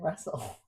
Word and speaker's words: wrestle: What consonant is silent in all these words? Bassen, castle, moisen, and wrestle. It's t, right?